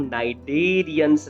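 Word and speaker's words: Cnidaria: अगर हम बात करें तो जैसे मैंने आपको बताया था, name नाइडेरिया is derived from the cnidoblast या नाइडोसाइट्स। यहाँ पर सी साइलेंट रहेगा, और ये कहाँ प्रेजेंट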